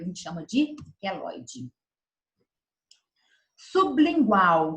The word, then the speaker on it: sublingual: Sublingual, então o B é mudo.